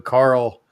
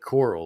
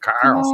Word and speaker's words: Carl: He always he always pronounced it as like coral like sea coral you know I mean like hey Jeremy that's not how that's not how they pronounce it down in the south you know.